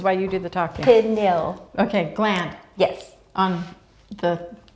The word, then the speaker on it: pineal: interesting um so are you gonna put the pinion nail how do you say pineal this is why you do the talking pin nail okay gland yes on the yeah yeah we'll